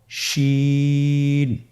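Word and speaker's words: شين: পরবর্তী হরফ, শেষ হরফ আজকের পর্বের, সে হরফটির নাম হলো শিন।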